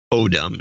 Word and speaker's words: Odom: Odom is, yes, I got that, I think, is the correct pronunciation. Since you seem to mispronounce wrong again, I think it was autumn last time.